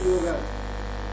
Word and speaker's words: yoga: So the best technique to pronounce yoga is to take prolonged yo a little bit. Yoga. So that you pronounce ga as ga, not neither yog with a halan nor yoga.